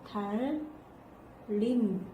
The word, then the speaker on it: 달님: 달림 이렇게 발음되지? 이게 여기 앞에 리을이 있었어. 근데 뒤에 봤더니 니은이 있는 거야. 이 리을이 니은에 영향을 줘가지고 이 니은이 뭘로 변했냐면 리을로 변했어.